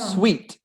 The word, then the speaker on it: suite: kitchen's over there seeds that's exactly the same pronunciation but different spellings sweet oh really so